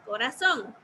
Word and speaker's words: corazón: Y corazón. ¿Cuál será la sílaba que estoy pronunciando más fuerte? Corazón. Son. Son. Ok. Ahí ya tengo entonces mi sílaba tónica. Si ustedes pueden observar, está en la última sílaba, o sea, al final de la palabra.